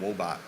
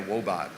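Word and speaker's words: Woebot: AI researchers they created the wool bot I said it right the whoa bot it's a robot it's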